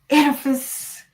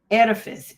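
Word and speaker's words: Oedipus: So, we're gonna talk about this thing called the edifice and the electra um complex. So, if you don't know about the um edifice and it's spelled the O is silent.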